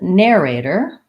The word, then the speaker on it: narrator: at the end and then narrator again first syllable stress narrator and this is an air a der in American English we're going to use